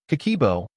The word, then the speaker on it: Kakeibo: Kakeibo, pronounced Kakeibo, is a Japanese budgeting system that has been around since 1904, introduced by Hani Motoko, Japan's first female journalist.